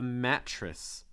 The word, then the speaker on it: mattress: when you make that a sound like a mattress you want to make sure that you can see the middle of your tongue a mattress okay um